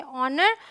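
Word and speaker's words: honor: ठीक है, तो ये है ऑनेस्ट, ये है आवर, ये है ऑनर और ये है एयर।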